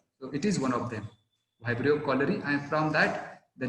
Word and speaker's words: Vibrio cholerae: Now again, you have to take care of the pronunciation, that is, it is the pathogen called as Vibrio cholerae.